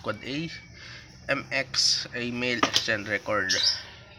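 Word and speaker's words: AAAA: n the West ipv6 address pronounced quad 8 MX a mail exchange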